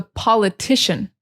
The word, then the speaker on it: politician: But in English, it's politics. And the emphasis is on the first syllable. Politics, politics, politics. And the person is the politician. So the emphasis changes. Politician, it's on the second syllable.